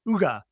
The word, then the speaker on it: Hygge: So, it is pronounced Ugga, Chel's Ugga.